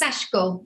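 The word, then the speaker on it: Sashiko: You don't have to say the E. Oh, you don't do the middle syllable. You don't do the E, yes, before. Ah. The I. So it's Shashiko. So kind of ignore that.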